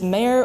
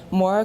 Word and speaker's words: Maire: I tli father n many people accidentally mispronounced this as Marie Caitlyn are perhaps other creative variations such as mayor or Mari and once even mark but rarely is the correct pronunciation Maura culturally never guessed on the first try one might ask why